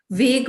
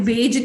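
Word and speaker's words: vague: वेग बताइए, इसको क्या बोलते हैं? वेज नहीं बोलते। सबसे पहले तो वेग की स्पेलिंग देख लीजिए, इसको वेग बोलते हैं।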